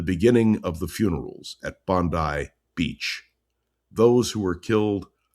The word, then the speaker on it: Bondi: It is Bondi Beach. I mispronounced it and one of our loyal listeners